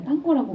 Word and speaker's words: 땅고: 그런데 이게 그때 당시에 시작이 됐을 때는 거기가 스페인어식 발음으로 하다 보니까 땅고라고 불렸는데요.